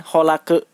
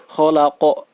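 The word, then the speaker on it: خَلَقَ: Nah, untuk huruf qaf, cara membacanya yaitu dipantulkan dengan menyerupai bunyi huruf O. Jadi bukan kholake, akan tetapi kholako. Nah, jadi mulut, bibir, ya, bentuk bibir ada pada bentuk huruf O. Jadi bukan E.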